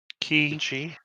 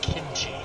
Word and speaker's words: kimchi: going to focus my kinchie your chi your key chia head it's pronounced kimchi i've never i don't